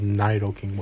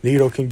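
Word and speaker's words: Nidoking: needle king or it's the supposed way to pronounce it is nito king i don't care about i go based off of what i've known for years nido king just like look at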